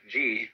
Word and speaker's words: ji: The word Ji, which is Japanese way of pronouncing the Chinese Chur, is the world of things and events.